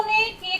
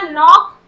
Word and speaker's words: knock: इसी तरह नॉक, KNOCK, नॉक, नॉक में भी हम लोगों ने के का साउंड नहीं किया।